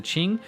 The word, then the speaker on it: Qing: dynasty, the Qing and the Qing, as I think I'm pronouncing it right, the Qing. Someone corrected me on that, and established the established the Republic of China.